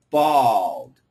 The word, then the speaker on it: bald: Bald. Bald. Bold. Okay. So, this aw sound is really difficult.